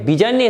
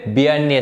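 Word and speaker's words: Bjarne: যে ব্যবহৃত হয়, সেটা অনেকে এটা বিজার্নি স্টার মনে করে, কিন্তু এটা হবে বিয়ার্নি স্টার, ওটা বিজার্নি হবে না, যেটা ওখানে উজ্জ্বল থাকবে, সাইলেন্ট থাকবে আর কি।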